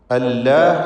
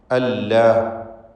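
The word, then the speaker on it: الله: ആലിഹത്തുൻ ഇല്ലല്ലാഹു, അള്ളാഹു എന്ന ഇസ്മുൽ ജലാല, ഇതിലുള്ള ലാമിനെ തടിപ്പിച്ച് തന്നെയാണ് ഉച്ചരിക്കുക. എന്നാൽ ആളുകൾക്ക് വരുന്ന അബദ്ധം തെറ്റെന്താണെന്ന് വെച്ചാൽ, അള്ളാഹ് എന്ന് ഉച്ചരിക്കുന്ന ആ ശബ്ദം അത് ലാമാണ്. ലാമിൻ്റെ മഖ്റജിൽ നിന്ന് തന്നെ വരണം, മഖ്റജ് മാറാൻ പാടില്ല. അല്ലാഹ് എന്ന് പറയുമ്പോൾ നാവ് എവിടെയാണ് നിൽക്കുന്നത്? അല്ലാഹ്, അവിടെ നിന്ന് തന്നെ. പിന്നെ എന്താ വ്യത്യാസം? തഫ്ഖീം എന്ന ഒരു സിഫത്ത് അതിൽ കൂടുതൽ വരുന്നു, അതാണ് വ്യത്യാസം.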